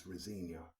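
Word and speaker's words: Rosenior: out of 7 for Rosinia. That's his name now. I know that's how they pronounce it on the television network. So it's Rosinia. That's not usually how you pronounce that surname, but I'm not going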